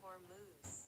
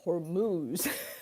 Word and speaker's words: Hormuz: Straight of hormones. Hormuz that's the pronunciation.